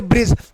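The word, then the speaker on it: bridge: silent हो जाता है जैसे ब्रिज देखिए दी के बाद जी आया है ना तो उसको क्या बोलेंगे ब्रिज बोलते हैं ब्रीड्स नहीं बोलती यहां ब्रिज बोलेंगे क्या बोलेंगे भाई ब्रिज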